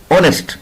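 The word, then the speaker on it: honest: एच जो है वो वोवल नहीं है, एच तो कॉन्सोनेंट है, लेकिन इसकी जो साउंड है वो वोवल की है। इसको जब हम बोलेंगे तो कैसे बोलेंगे? ऑनेस्ट। इसको प्रोनाउंसिएशन कैसी होगी? इसकी प्रोनाउंसिएशन ऑनेस्ट, ओ से होगी, इसलिए हम इसके साथ एन लगा रहे हैं।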